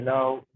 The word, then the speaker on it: know: To know. To know again. No. Yeah, to know. This is silent. Yeah, this K is silent.